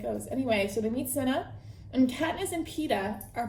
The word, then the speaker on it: Cinna: And they meet their stylist, Cinna. I believe that's how you pronounce it, Cinna.